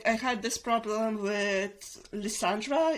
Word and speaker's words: Lysandra: had this problem with Leandra is that how I pronounce her name yeah lysandra lysandra Leandra lisandra l Sandra yeah I guess the first